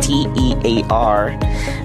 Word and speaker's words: tear: The first one is a word that has four letters spelled with a T-E-A-R. The first way to pronounce it is tear, rhyming with fair.